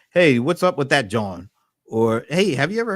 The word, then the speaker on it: jawn: I think it's spelled John. It's spelled Jawn. John. They'll use that as a noun, a verb, an adjective. John.